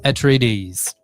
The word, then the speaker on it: Atreides: House Atreides, I want to say is how that's pronounced.